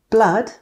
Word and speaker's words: blood: We say blood, but mood.